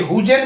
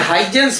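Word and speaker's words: Huygens: देखिए हुजेन मत बोल दीजिएगा, इसका सही प्रोनाउंसिएशन है हाइजेंस प्रिंसिपल। ठीक है, साइलेंट है, HI ही लगता है, हाइजेंस।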